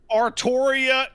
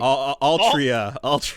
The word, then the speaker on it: Artoria: Artoria is the correct way to say that character's name. Altria. All that other Altria shit, it's like the stupidest shit I've ever heard.